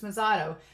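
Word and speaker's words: Mezato: say her name right masato there we go I want to call her Mexico but it's mizato so she's meeting with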